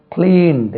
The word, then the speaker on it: cleaned: இருக்கு கேன்சல் கிளீன் கிளீன் கிளீன்ட் இந்த இடத்துல டி தான் இட் கிடையாது கிளீன் கிளீன்ட் கிளீன்ட் கிளீனிங்